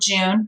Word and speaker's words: jun: or Jun Jai UN we say John rhymes with fun but you can call it Jun it's potato potato really and that culture is